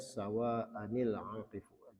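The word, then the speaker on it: سَوَاءً الْعَاكِفُ: Jadi di sini ada tanwin ya, tanwin, kemudian di sini ada alif lam, jadi dibacanya dikasih nun wiqayah ya. Kalau kita lihat di sini ya, dibacanya sawa'anil aqif, seolah ada nun kecil di bawah yang dikasrohkan.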